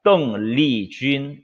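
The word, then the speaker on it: 邓丽君: 또 미인방명이라는 말도 있고 아무튼 등려군의 이 중국어 발음은 떵리쥔이라고 합니다. 떵리쥔.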